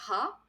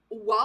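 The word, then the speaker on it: は: Il y a le fameux ha, qui se prononce aussi wa en particule.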